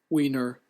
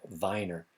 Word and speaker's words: Weiner: oh wait a minute that's a German pronunciation let this Wier pronunciation there it is oh wiener Wier okay that's the that's the English pronunciation wiener yeah I know if this were German it would be pronounced V Viner because the w sounds like a V the uh it's the second letter that's uh that's a long that's long in German anyway okay so weiner